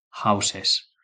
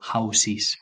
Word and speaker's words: houses: En este caso, esto se dice houses, no se dice housees, como hay hay mucha gente que lo dice con i, eso es incorrecto, ¿vale?